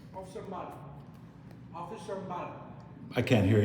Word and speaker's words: Mbala: Officer Mbala. Officer Mbala. I can't hear you. I'm sorry. Mala? Yeah, Officer Mbala. Mbala. Can you spell it? M-B-A-L-A. MBA Mabla. No. M-B-A-L-A. Mbala. Mbala. Yeah.